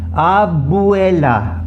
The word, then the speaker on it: abuela: Abuela. Abuela. See, I'm pronouncing the U separately, the E separately.